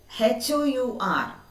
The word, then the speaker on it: hour: 60 minutes an hour h o u r how can we read it hour once more h the letter h is silent and we will read